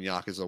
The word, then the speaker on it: Yakuza: huge in the Yakuza Yakuza.